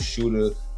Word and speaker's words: Sh53ter: It's spelled Shooter, Sh53ter. Alright, it's not spelled regular.